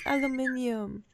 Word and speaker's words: aluminium: But it is aluminium.